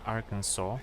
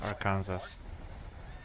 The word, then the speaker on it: Arkansas: I just lately learned that you should pronounce a certain state Arkansas, not Arkansas.